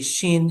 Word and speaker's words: shin: So although the shin is pronounced as SH when the column is on the right side.